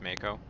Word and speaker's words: Mako: help say that again also it's pronounced mako i'd worry less about